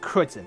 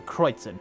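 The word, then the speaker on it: Kreuzen: Okay, so it's pronounced Kreutzen. Sorry, I didn't mean to cut in there, but I wanted to know how it's pronounced. So Kreutzen.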